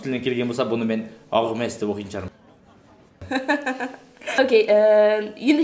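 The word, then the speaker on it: Hermès: Hermes. It is Hermes because it's a French word. Француз тілінен келген бренд болған үшін бірінші әріп айтылмайды да Hermes болады. Онда француз тілінен келген болса, бұны мен Hermes деп оқитын шығармын.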